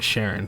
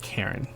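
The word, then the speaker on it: Charon: will and my bad I've been calling her Sharon forgot her name pronounced Karen all right let's go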